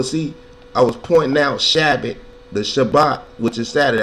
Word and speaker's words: Shabbat: The correct pronunciation is Shabbat.